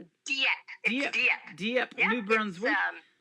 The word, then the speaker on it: Dieppe: And now you reside in, is it Dieppe? Is that how you say it? Dieppe.